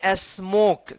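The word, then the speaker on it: smoke: knows S एम ओ के ई देखिए यहां पे ई से पहले वाला वोवेल ओ है ना तो इसको पढ़ेंगे स्मोक क्या पढ़ेंगे स्मोक एच ओ पी E hope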